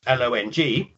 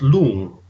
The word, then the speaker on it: long: And the word for dragon it's L-O-N-G, so you might think it was long, but it's actually pronounced lung.